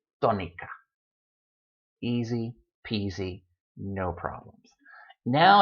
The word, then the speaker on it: tónica: It should be tónica, but it's not tónica, it's tónica. So there you go. Written accent mark, and when you see that word, oh yes, must pronounce it sílaba. Must pronounce it tónica.